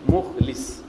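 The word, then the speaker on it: مخلص: Remarquez bien la prononciation du mot, mukhlis. C'est le lam avec kasra. C'est L avec I, mukhlis.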